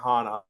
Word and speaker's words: Hanna: So, it's it's and you know it's pronounced Hana golf and generally almost everyone gets that wrong